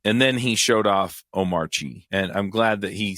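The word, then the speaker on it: Omarchy: But Omari, it's it was funny cuz he says, "Yeah, when I when I switched over, I started using Iuntu."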